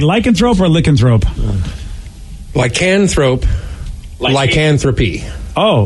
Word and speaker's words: lycanthrope: so it's You're putting the emphasis on the wrong syllable, guys.